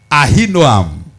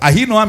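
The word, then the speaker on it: Ahinoam: Ah noam is the third wife. Ah noam is spelled as a h i n o a m.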